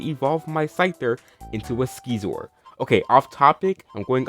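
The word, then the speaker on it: Scizor: I say it like Skeezor, that's how I've always said it, but others say it Scissor.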